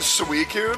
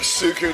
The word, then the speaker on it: Suicune: you're supposed to know that they're supposed to pronounce it suicune but i feel like i feel like sukun sounds so much cooler dude oh frame's favorite